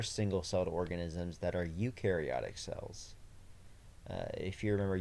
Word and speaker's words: eukaryotic: cell organisms that are eukaryotic cells uh if you remember eukariotic cells um the word uh eukaryotic cell starts with EU and uh you pronounce it U and so you remember